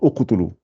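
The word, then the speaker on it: اقتلوا: Et là, là vous allez dire uqtulu. Voilà. Vous dites bien où.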